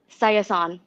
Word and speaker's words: Sayasone: your last say your last name for everybody cyathon okay all right i wouldn't i wouldn't have guessed that in ten tries completely butchered that me too yeah thank you so